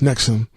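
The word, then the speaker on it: NXIVM: Albany New York base in XIV M pronounced Nixon like the heartburn medication since 2003 Rainier maintained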